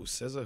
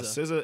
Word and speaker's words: SZA: SZA is S-Z-A. Yep. It's like season? Season, sort of. Yeah, without the N.